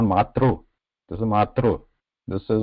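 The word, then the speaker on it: मातृ: They just pronounce it as 3 only. Matri, Pitri, which is not correct.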